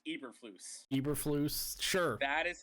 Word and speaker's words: Eberflus: I believe it's pronounced Eberflus.